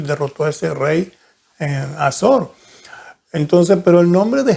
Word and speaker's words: Hazor: cual reinó en Azor, siempre ando pronunciando la H, entonces, pero es Azor.